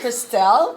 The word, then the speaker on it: Krystel: It's Krystel, but it's good.